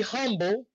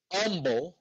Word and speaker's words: humble: to impress others be humble or as my wife says humble she says that the h is silent i'm not surprised hey